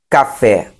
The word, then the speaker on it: café: Se fosse, ao invés de café, fosse açúcar. Açúcar seria paroxítona. Ok? Então, lembrando, café, oxítona, açúcar, paroxítona, porque o su é a sílaba mais forte.